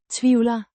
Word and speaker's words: tvivler: Tvivler. The V is pronounced as in van, and the L is slightly softer.